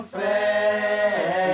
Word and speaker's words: fête: Du merle moqueur seront tous en fête. Alors, excuse-moi, mais tu aimes la fête, toi, hein? La fête, tu aimes bien, hein? Eh bien, prononce-le correctement, hein? Fête, accent circonflexe.